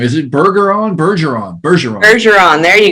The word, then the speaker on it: Bergeron: do you say your last name is it burger on bergeron bergeron bergeron there you go bergeron oh i knew that you know you know